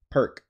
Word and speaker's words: Pirc: So if you're new out there and you don't know that it's actually the Pirc, it's actually called the Pirc, but it's spelled Pirc. Perk, guys.